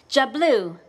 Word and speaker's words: Diablo: But the one I love best, Diablo, pronounced Jablu, the devil.